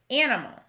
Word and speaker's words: animal: in the trap column our next word is animal the first syllable of this word and sounds like we'd expect as a closed syllable the second syllable is another closed syllable m the last syllable l is a bit tricky because it has a sneaky schwa but we can handle that so animal